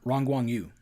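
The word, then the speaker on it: Yu Rongguang: the guy, can you tell me how to pronounce his name? Who actually plays Iron Monkey? Very popular. Oh yeah. Uh Rang Guang Yu.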